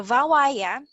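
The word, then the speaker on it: Bhawaiya: among all um so it's bh but it's pronounced as v in bangla so vawaya is a folk song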